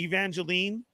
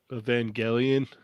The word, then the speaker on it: Evangelion: the uh how do you say it cheney evangeline evangelion okay thank you evangelion uh you got ultra